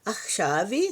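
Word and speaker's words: עכשיו: Bem no raf. Olha bem. Faço o raf. Ele parece um pouco palatal. Parece CF, né? Mas é CF. Mas aí você vai traz pra garganta e vai falar e achve.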